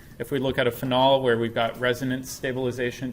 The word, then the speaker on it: phenol: And this alcohol is called a phenol, or a phenol, depending on how you want to put the emphasis on the syllable.